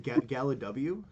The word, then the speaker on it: GalliwYGO: It's just GalliwYGO. Yeah, so it's just like Galley.